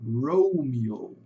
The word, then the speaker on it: Romeo: Por isso que fica rouo, romio, né? O e com som de i e dois longos. aqui um ó longo e outro ó longo no final Romeo.